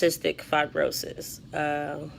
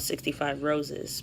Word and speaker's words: cystic fibrosis: about how it's pronounced all the time there's pronounced cystic fibrosis and you know there's a foundation actually called 65 roses because that's a lot of people I guess